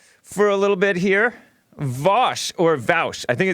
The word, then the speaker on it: Vaush: his mic for me is it Vash is Vash you nailed it nice you know I learned that from Jesse actually because I was pronouncing it vouch Jesse is a wise